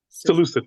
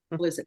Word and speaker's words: Seleucid: just fighting you can help me with the pronunciation here, Seleucid Empire. Seleucid. Uh-huh. Seleucid.